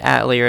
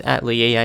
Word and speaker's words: Atelier: big at lear series well they call it at lear it's really supposed to be pronounced at lea a I suppose but this